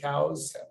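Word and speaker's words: Coues: 100 accused there because the locals say that the guy who was named after was Elliot cows he was quite adamant that that's how his name was pronounced sounds good um anyway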